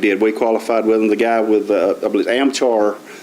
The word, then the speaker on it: Amchar: the guy with a amchar I always want to call an armchair but it's spelled a-m-ch-a-r on amchar is the name of the company and the guy came